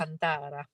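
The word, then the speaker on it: Thiago Alcântara: Is that how you say his name? Yeah. Alcantara.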